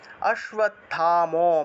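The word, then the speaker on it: অশ্বত্থামা: উচ্চারণ শালগ্রাহিকের বেলাকুলা অশ্ব অশ্বের নিচে বফলা থাকায় উচ্চারণ অশ্বতম বিকর্ণ ঘোরা অশ্বতম টাকে পূর্ণ উচ্চারণ করব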